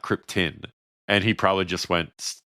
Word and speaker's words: Krypton: was just like, "Hey, it's Krypton, not Krypton."